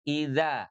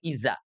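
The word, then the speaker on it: إذا: Idza. Ah, danya hati-hati tidak izza. Idza. Ujung lidahnya nempel ke langit-langit. Idza. Inya dari tenggorokan bawah. Dnya dari ujung lidah dengan ee gigi seri atas.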